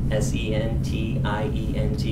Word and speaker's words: sentient: It's called sentient, S-E-N-T-I-E-N-T. It can also be pronounced sentient.